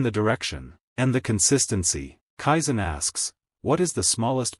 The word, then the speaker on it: kaizen: First, kaizen. In the west, we pronounce it kyzen.